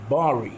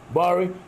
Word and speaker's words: Bxri: We are with Bari.